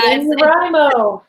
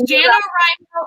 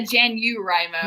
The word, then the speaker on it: NaNoWriMo: Yeah, NaNoWriMo. it's NaNoWriMo, or for Natalia, NaNoWriMo.